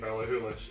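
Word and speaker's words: Ballachulish: Balahuish. It's a silent C. These people who wrote the dictionary, I swear to God. The dictionary, I don't think you would find Balahulish in a Or dictionary.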